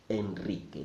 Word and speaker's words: Enrique: there is an exception a single are after the letter n also sounds Enrique that is an exception so you can